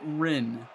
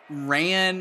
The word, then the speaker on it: Rin: It's pronounced Rin. Okay, well, we will call him Rin from now on. I'm going to be honest, that was my, 8th guess. Yeah, I would have said Ran, maybe I was thinking ramen for some reason.